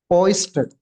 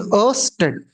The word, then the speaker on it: Oersted: It is Oersted. Like even though R is there, we don't read it. It is like you read it as Oersted. So this is how we read it, pronounce it as Oersted.